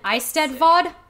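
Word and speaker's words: Eisteddfod: like the eleven hundreds it's called an ice dead vod which it is not spelled like i stud vod i had to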